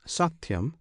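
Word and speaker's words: सत्यम्: the true Satyam alone this Satyam consists of three syllables one syllable is saw another T the third yum the first and last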